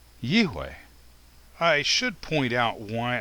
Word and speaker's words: יהוה: so in my opinion the pronunciation of the name yod VAV is yway I should point out